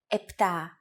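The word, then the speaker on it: επτά: standard pronunciation for numbers sometimes though especially in casual conversation greeks also use efta instead of epta instead of octo and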